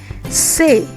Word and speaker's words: C: Say. Say, you pronounce it like how you are saying say.